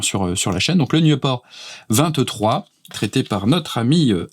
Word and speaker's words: Nieuport: Le Nieuport 23, je fais attention à la prononciation parce que j'avais quelques petits problèmes avec le nom de cet avion, que j'avais tendance à dire un petit peu trop en anglais.